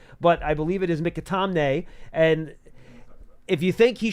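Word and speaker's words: McAtamney: If you guys think, out of an abundance of caution, they could have elevated Mikatamne, and that is, by the way, how you pronounce the last name.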